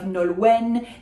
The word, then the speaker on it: Nolwenn: So we are pronouncing the N of Nolwenn. This is not a nasal. It's not following French language rules because it is not French language. It is a Celtic language, Breton, le breton. So Nolwenn, le Blevennec.